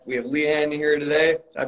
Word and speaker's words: Leann: All right, we have Leann here today. Did I pronounce that name correctly, by the way? Yes, you did. Thank you. All right, awesome. So Leann, just tell us a little bit about yourself.